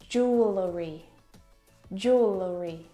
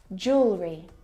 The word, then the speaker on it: jewelry: don't need to pronounce we don't say Jewel jewelry it's just jewelry and actually in American